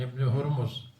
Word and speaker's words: ابن: عن عبداللہ ابن مالک ابن بحینہ، یہ ابن میں حمزہ کو لکھا ہے اس لیے کہ حمزہ ساقط ہوتا ہے خطاً و تلفظاً جب باپ بیٹے کے درمیان آ جائے.